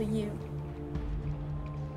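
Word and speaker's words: ewe: at it completely wrong you also notice how it's spelt you as in a sheep what's what's a u i don't know what that is a female sheep it's called a you i don't know why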